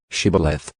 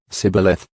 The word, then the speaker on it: shibboleth: would say to him just say shibboleth but he said sybileth for he was not prepared to pronounce it correctly then they seized him